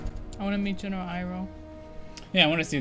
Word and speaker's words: Iroh: My name is Iro. Iro? That's Iroh. Did nobody watch the show for pronunciations?